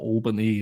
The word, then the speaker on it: Albany: Commodities like with poor Albany and or I am I pronouncing that right I'm so you're saying no you're saying it correctly she say Alban and